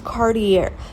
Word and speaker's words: Cartier: Like, it's, David Yerman, Dave, and, and then it's like, they can't even pronounce Cartier. It's Cartier.